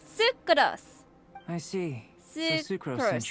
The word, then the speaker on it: Sucrose: stuck with your research ah that that's how you say her name sucos I see so sucros